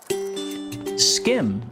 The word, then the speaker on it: SCHiM: SCHiM, and I'm told that this is the correct pronunciation, is a game about jumping from shadow to shadow in a relaxing and lively environment.